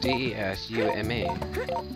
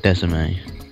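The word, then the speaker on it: DeSmuME: Desume. Oh, that's Desume. It's not Desimate.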